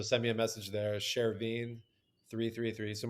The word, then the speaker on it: Chervin: me a message there Sherine 333 so my my name is pronounced Sherin okay and uh my